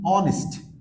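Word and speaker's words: honest: অ্যান্ড the last ওয়ান, অনেস্ট, অনেস্ট, অনেস্ট, অর্থাৎ অনেস্ট, এখানেও ওয়ার্ডের শুরুতে এইচ থাকতেছে, এই জন্য এইচ এর উচ্চারণ হচ্ছে না।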